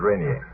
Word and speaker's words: Rainier: for a downed plane somewhere round about Mount Rainier. Rainier. How do you pronounce that in America? Rainier.